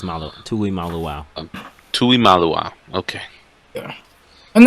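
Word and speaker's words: Tuimoloau: Tui Molo. Yeah. Malaw. Yeah. And then we got a Malaw. Yeah, it's Malo. Tui Malu.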